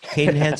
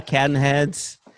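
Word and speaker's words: Cadenhead's: So you can pronounce it Cadenheads or Cadenheads.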